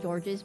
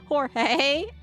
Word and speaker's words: Jorge: Got George's memo. Is that pronounced George or Jogay? Vampire, cannibal, werewolf, ghost, zombie. Jorge. Oh my god, I've been saying it wrong. Jorge. I've been calling him George. It's Jorge.